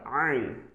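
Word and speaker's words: ع: Here the same letter ein, ein, ein. It will be pronunciated with the help of throat. It's called throatical alphabet. So you'll have to pronounce it from your throat.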